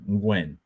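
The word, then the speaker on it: Nguyen: Gwyn that it's not nulan that's aw it's pronounced Gwyn Gwyn and uh you know the Ste you know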